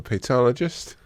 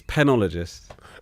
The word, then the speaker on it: penologist: Wait, are you looking to become a pologist? Okay, we just stop again. It's penologist.